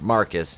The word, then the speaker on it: Marquis: that's my brother and it's marquise but it's pronounced marcus jet dumb